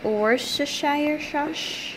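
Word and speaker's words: Worcestershire: whatever veggies you like you're going to need or Shire that's how you say it and use garlic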